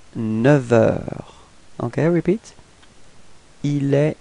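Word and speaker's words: neuf heures: change the sound, so we won't pronounce the F, but it would sound a bit more like V, like a V, okay?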